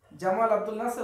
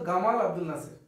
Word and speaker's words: জামাল আব্দুল নাসের: উচ্চারণ করতে পারে না জিমকে ওরা কি উচ্চারণ করে ওরা গ উচ্চারণ করে জামালকে মারে গামাল ওদের যে প্রেসিডেন্ট ছিল জামাল নাসের জামাল আব্দুল নাসের ওরা বলতো গামাল আব্দুল নাসের এখনো শুধু কোরআন পড়ার